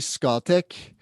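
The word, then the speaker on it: Scatec: Yeah, I say Scotech just because that's how the Norwegians pronounce it, but I don't know how we say it in English.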